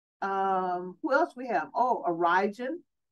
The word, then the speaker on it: Origen: Oh, Origen. Origen, or some people may pronounce it Origen or Origen, okay?